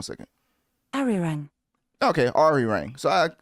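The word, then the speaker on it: Arirang: Ari Rang.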